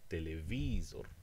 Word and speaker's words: telewizor: You can have it like in Polish, which is second to last, as in telewizor.